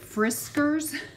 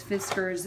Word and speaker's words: Fiskars: I have literally called it Friskars. Forever, and so now I know it's Fiskars, and I don't know